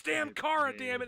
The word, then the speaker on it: Chara: The little Chara? No, Kara.